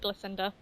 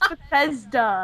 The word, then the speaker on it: Bethesda: Well, okay, that's how you pronounce it. I call it Blissinda. What? Oh my god. It's Bethesda.